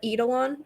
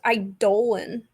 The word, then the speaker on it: Eidolon: I call it Eidolon. That is not how you pronounce that word. I had to Google it. What is it? It's pronounced Eidolon.